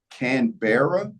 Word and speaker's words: Canberra: No, it is Canberra, I believe, is how you pronounce it.